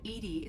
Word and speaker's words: EDI: are you named Ed Ed is the phonetic pronunciation of Eed that is an acronym for enhanced defense intelligence okay and what what